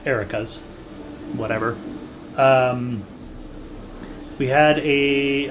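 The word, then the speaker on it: Arachas: encountered some iraq erikas i want to say arakas because it's a-r-a-c-h-a-s but apparent game they pronounce it erica's whatever um we had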